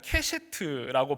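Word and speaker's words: קשת: 이 무지개는 히브리어 음으로 보면 케셰트라고 발음을 합니다.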